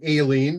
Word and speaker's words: Ailene: I like to pronounce her name Ailene because that's the way it needs to be pronounced.